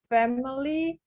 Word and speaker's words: family: In Bahasa, maybe family, but in English we pronounce family. The Family. so the I after M is barely there.